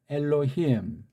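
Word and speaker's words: אֱלֹהִים: 람다랑 이걸 참 그러니까 을로가 아니고 을로 히 그다음에 이거는 무 근데 의자가 없으니까 그래서 이거 요 발음들은 엘로힘 예.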